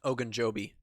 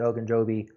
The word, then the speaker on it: Ogunjobi: Ogunjobi. Ogunjobi, Larry Ogunjobi.